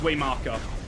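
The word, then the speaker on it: Waymarker: I didn't see the R. It's way marker.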